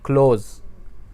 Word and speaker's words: close: मिसाल के तौर पे क्लोज, CLOSE, आखिर में ई आ रहा है, ठीक है, लेकिन उसको बोला नहीं जाता, हम S पे जाके रुक जाते हैं, क्लोज, तो उसको कहते हैं साइलेंट ई।